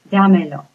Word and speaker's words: Dámelo: Now the rule is saying that it ends in an O, which is the vowel right here. Stress is on the next to the last syllable. It's saying it's right here. Well, that's not true. It still stays in the original place, so you have to